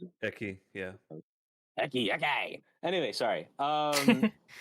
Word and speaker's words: Ecce: pronounce it? Eki, yeah.